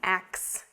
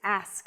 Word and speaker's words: ask: let me ask you a question but the pronunciation of ask should not be X it's ask let me ask you a question I want to ask you something it's not ax ask yeah this one again so like Lemmy